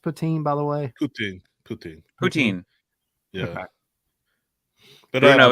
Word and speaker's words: poutine: Is it pronounced poutine, by the way? Poutine.